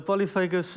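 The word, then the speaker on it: polyphagous: But what is this troublesome Polyphagus shot-hole borer? Am I saying it right? Yeah, it's perfect pronunciation there. So the Polyphagus shot-hole borer is a minute little beetle.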